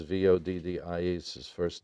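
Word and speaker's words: Voddie: Last name is spelled Baucham, and Vadi is Voddi.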